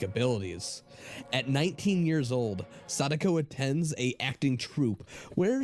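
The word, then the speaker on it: Sadako: When Sodico Sodico, I'm not watching.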